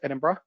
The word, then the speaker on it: Edinburgh: to edinburgh now yes that is how you pronounce it edinburgh i was corrected by one of our scottish